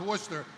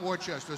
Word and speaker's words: Worcester: They don't know the difference between that Worcester is pronounced Worcester, not Worcester.